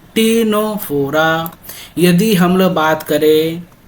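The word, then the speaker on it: Ctenophora: और ए सिलोमेट और एग्जाम्पल कौन सा हो जाएगा, टीनोफोरा, यहाँ पे फिर सी साइलेंट होता है, यहाँ फिर क्या टी साइलेंट है, यहाँ टीनोफोरा बोला जाता है।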